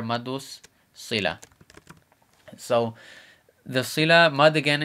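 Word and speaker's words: مد الصلة: So this is how we'd spell it: Maddul Silah. And this would be hurufu shamsiya, meaning sun letter. So we cut the L out and put the S there, Maddus Silah.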